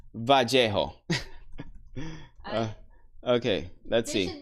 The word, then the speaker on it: Vallejo: Californians call it Vallejo. Yeah, some California. Yeah, the majority of Californians, that's the way I thought pronounced it. I don't think there's any wrong way to pronounce it.